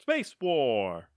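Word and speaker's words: Spacewar!: Space War! Space War! Is really how you say it, which is the 1962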